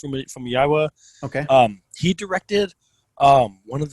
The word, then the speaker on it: Famuyiwa: This is This is directed by Rick Famuyiwa. I think is how it's pronounced. Famuyiwa.